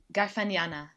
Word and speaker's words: Garfagnana: Garfagnana. Yes, I would have said Garfagnana, but It's like Garfagnana- lasagna.